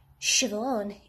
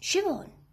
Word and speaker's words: Siobhan: am not known for thinking on my feet shove on shiv one is pronounced siobhan and nymph is pronounced nev and sharon is